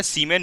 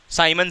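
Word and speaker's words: siemens: अच्छा, इसका दूसरा और होता है सीमेन मीटर इनवर्स, सीमेन मीटर इनवर्स। ठीक है, साइमन सीमेन एक ही चीज़ हुआ, SIEMEN है ना, साइमन है ना, सीमेन साइमन दोनों चलेगा, कोई दिक्कत नहीं, स्पेलिंग से कोई मतलब।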